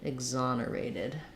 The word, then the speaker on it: exonerated: and then for exonerated we have the letter e x say eggs in this word eggs with a z and the stresses on the on syllable exam ER eight um with a clear a vowel there exonerate um or exonerated